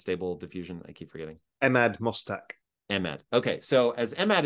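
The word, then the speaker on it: Emad Mostaque: efficiency to um please remind me how to pronounce the gentleman's name that runs stable diffusion I keep forgetting Ahmad mustak Ahmed okay so as emad is saying is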